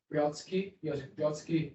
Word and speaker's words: Joseph Brodsky: Joseph Brodsky, that's the right pronunciation.